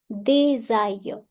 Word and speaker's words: des aulx: Des aulx, S will overlap A. Des aulx.